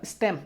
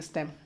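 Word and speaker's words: STEM: बिल्कुल सही है यार, इसको एक प्रोनाउंस भी करते हैं स्टेम, स्टेम, हाँ बिल्कुल सही, स्टेम।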